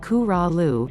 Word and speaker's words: Corolla: Corolla, just below the Virginia border on the Outer Banks, Corolla, pronounced Coo-Ra-Lu, is a go-to choice for families with young kids, thanks to its gentle waves and 24 miles of wide, white sand.